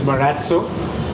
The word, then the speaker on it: Marazzo: the daughter it the writer question I've heard Meraz oh Murat sue and Matsu what's correct yeah so the correct pronunciation is Bharat sue and as you know the origination of it